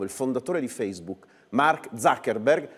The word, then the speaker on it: Zuckerberg: fondatore di facebook mark zuckerberg anche se verrebbe da chiamarlo zuckerberg con la provincia pronuncia tedesca visto che siamo in ambito germanico che parla proprio un